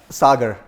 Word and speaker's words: Sagar: right I know say yeah what's your name Sagar sir how do you spell it s-a-g-a-r Sutter you know the uh I've